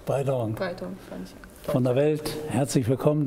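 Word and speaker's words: Breyton: Breiton. Ja. Spricht sich das richtig so aus? Korrekt, ist eigentlich Französisch, nicht? Ist eigentlich Französisch, Breiton, aber mein Vater hat schon eingedeutscht. Breiton.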